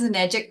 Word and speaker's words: Enagic: What does Enagic rhyme with? Magic.